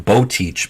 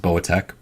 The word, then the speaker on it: Boteach: Rabbi shmuli boa Tech I believe it's pronounced spelling Beau teach but I think it's pronounced bowatech in any case so